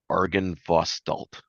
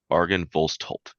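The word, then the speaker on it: Argynvostholt: carved into the the entrance doors the word Argan vostal I butchered the out of that a RG y n b o s t h o l t Argan volt that's carved above the door into the doors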